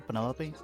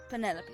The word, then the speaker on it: Penelope: Is that short for Penelope? Officially, yes, but I never can be bothered with all 4 syllables of it. Penelope sounds a little ostentatious coming 귀여운데, out the mouth, Penelope.